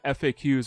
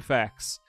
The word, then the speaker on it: FAQs: I'm using a guide from Game FAQs or Game Facts, depending on how you want to pronounce that.